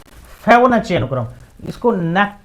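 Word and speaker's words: Fibonacci: एफ आई बी ओ एन ए सी सी आई उच्चारण थोड़ा अटपटा सा है। फेबोनाची फेबोनेची अनुक्रम पढ़ा जाता है इसको। मैंने शायद कल फेबोनेकी बोला था।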